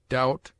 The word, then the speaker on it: doubt: It is mute in det, debtor, subtle, doubt, lamb, limb, dumb, thumb, climb, comb, womb.